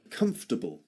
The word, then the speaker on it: comfortable: It seems to it has four syllables in in spelling, but actually it's pronounced in three syllables only.